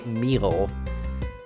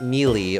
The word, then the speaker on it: Meal: So that's why how you pronounce her last name would be Meal. Not like Mealy or something, because it's like, it's chamomile.